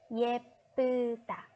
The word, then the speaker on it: 예쁘다: Most of you pronounce it in the wrong way. So listen carefully. It's 예쁘다.